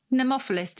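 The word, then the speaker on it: nemophilist: and the nemophilism episode is that correctly pronounced pneumophilist if you're a woodlover yeah thank you with this episode uh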